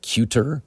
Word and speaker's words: cuter: And here we have a T to D sound switch or pronunciation switch. So instead of cuter, it's cuter.